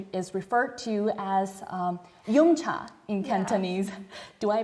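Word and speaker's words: yum cha: dium culture which is referred to as um Yuma in canones do I pronounce it right absolutely abolutely so tell me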